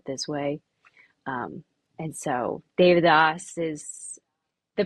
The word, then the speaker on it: Devadoss: Um and so David is the pronunciation but it is spelled like Devidos or Devidas.